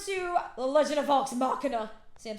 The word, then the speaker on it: Machina: We're moving on to The Legend of Vox Machina.